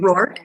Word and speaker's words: Rourke: I mean, Rourke, yeah.